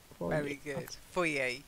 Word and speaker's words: foyer: the fire is kept given it's French etymology it should always be pronounced for a boy yay as the reading R is silent for yay yeah for yay I